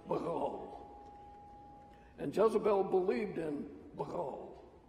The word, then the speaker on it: Baal: They pronounced it Baal.